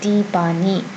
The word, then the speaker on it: Tiffany: Now Tipani, another member of Girls' Generation or Sonyeoshide, Tipani. In English she is simply Tiffany. Tiffany. But in Korean she's Tipani. Alright?